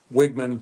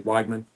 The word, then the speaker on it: Wagman: uh wigman Wagman um my ancestry is German so if the I is second you always pronounce it more with the I and if it's the e a second should pronounce it more with the E and his is we so I say Wagman uh they took he's